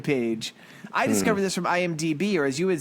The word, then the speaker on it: IMDb: I discovered this from IMDb, or as you would say, IMDM, or whatever the fuck you always say. You always say it wrong. IDBM.